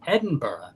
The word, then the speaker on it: Edinburgh: And then we're going on to the Fringe Festival in Edinburgh, which I finally learned how to pronounce. Edinburgh.